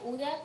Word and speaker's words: Huda: El saludo es mío, el placer es mío y mi nombre es Uda. Se pronuncia Uda con Hemuda.